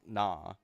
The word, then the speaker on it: Nah: I'm pretty sure that's how you pronounce Noe's kid. It's Nah.